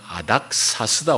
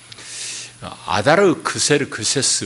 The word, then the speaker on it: 아닥사스다: 그러니까 역사책에 등장하는 아닥사스다, 아다르크세르크세스 뭐 이래 돼 있을 겁니다. 세계사 책에는 그 영문으로 읽는 영어식으로 발음하는가에 따라서 이제 그런 발음은 성경하고 조금 차이가 나요.